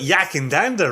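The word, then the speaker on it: Yackandandah: the full context backwoods distillery is out of yakindanda uh am i pronouncing that right jason and danda you got yak and dander right you got the distillery name wrong is it backwards yeah and then you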